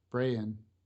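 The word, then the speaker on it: Brayan: bron bron L how how would you say this name b r a y a an Brian Brian yeah bran all right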